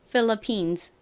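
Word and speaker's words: Philippines: 하죠 그리고 방금 말씀드렸듯이 끝에 S 붙어서 필리핀이 아니라 핀 이렇게 즈 소리를 살짝 붙여 주셔야 합니다 따라해 보세요 phillippines 한 번 더 해볼까요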